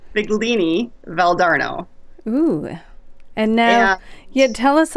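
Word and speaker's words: Figline Valdarno: It's because it looks like fig line. It's Figlini Valdarno.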